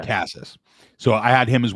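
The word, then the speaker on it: Casas: So, I mean, some of the guys who we had like um now, how do you pronounce it? Is it Cassas or Cas Cas? Casses. Yeah, Cassas.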